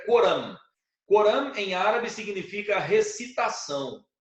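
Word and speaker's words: القرآن: Pois é, e esses preceitos do Corão, do Coran, né? Como se fala em árabe, tá? O nome do livro é Coran.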